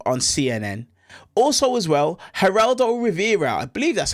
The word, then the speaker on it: Geraldo Rivera: Also as well, Geraldo Rivera, I believe that's how you say his name,